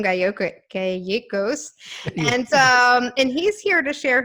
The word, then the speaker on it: Gallegos: Gallegos. Gallegos? Gallegos. In Spanish, it's a Spanish name, beautiful Spanish name. Gallegos. I like No, that. no, no. In Spanish, 2 L's are always pronounced as a Y.